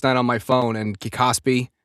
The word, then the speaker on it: KOSPI: I was looking at I was going through X last night on my phone and Kosby, is that how you say it, right? Cosby. Yeah, the Korean. Oh, dude.